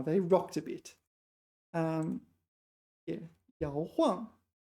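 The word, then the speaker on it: 摇晃: Okay, so this time it's fourth tone, not third tone. We remember from before, right? 摇晃.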